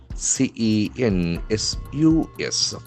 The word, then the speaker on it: census: What will indeess C E N S U S. So here we can find the letter C has got S sound. Census.